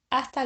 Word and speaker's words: hasta: Blondo see you soon hasta luego hasta luego see you later remember that in Spanish the letter H is silent no famous see you